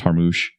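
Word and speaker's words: Jarmusch: this this is Jim I think it's pronounced har moosh you directed and wrote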